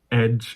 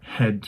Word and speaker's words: hedge: I used to pronounce edge instead of hedge. I thought that's a silent H, for example.